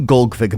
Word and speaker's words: Golgfag: you'll find out who gfig maner is a bit of his lore and play style information how to pronounce his name with a silent a and why he has